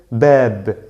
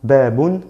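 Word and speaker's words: باب: Aquí voy a decir bab, bab. ¿Qué hago yo? Omito no pronuncio este doble damma, digo babun, no, solo bab.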